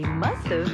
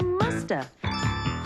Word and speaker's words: must have: mean must have been we can say must of in conversation and sometimes we don't pronounce the V and so you hear Musta she must have been